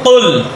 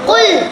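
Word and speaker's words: قُلْ: সূরাতুল কাফিরুনা মাক্কিয়া বিসমিল্লাহির রাহমানির রাহিম বিসমিল্লাহির রাহমানির রাহিম কফ পেশ লামে জজম কুল কফ পেশ লামে যম কুল কুল কুল কফের উচ্চারণটা এভাবে বলতে হবে কেমন?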